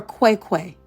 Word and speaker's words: Cwecwe: And I need everyone to hashtag justice for Quiquay. Qui Quay is spelled CWE. CWE.